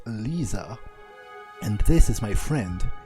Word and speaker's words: Lissa: time the name is lisa she pronounced she pronounced it lisa it's it's not really